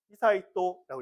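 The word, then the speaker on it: 悠仁: 어 첫 번째 출구 히사이또 히사이또라고 읽습니다.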